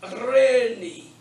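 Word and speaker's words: εἰρήνη: But the epsilon iota is simply pronounced E. So it's Irene.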